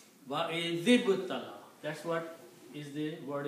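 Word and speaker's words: وَإِذِ ابْتَلَىٰ: You cannot combine two sukoons together. So what you do? You change this to a kasra. So now you can pronounce it. Wa I zib tala. Wa I zib tala.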